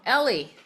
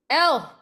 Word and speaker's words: Elle: Ellie. it's L. Elle.